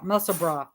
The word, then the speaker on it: Musselburgh: But it's not pronounced bird, it's bra, Musselburgh.